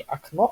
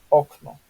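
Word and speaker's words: okno: Да, и что характерно, в польском языке практически всегда он с ударением идет на предпоследний слог. Да, то есть не окно, а окно.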